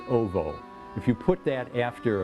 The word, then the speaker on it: owo: There's a suffix in Polish, O-W-O, pronounced ovo.